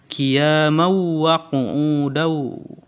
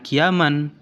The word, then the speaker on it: قياما وقعودا: Kemudian yang berikutnya, yang keempat, pada kalimat qiyamau wa qu'udau. Pada lafaz qiyamau itu termasuk kepada hukum idgham bi gunnah, karena tanwin bertemu dengan huruf waw. Jadi dibacanya bukan qiyaman, tapi harus ditasdidkan ke huruf yang berikutnya.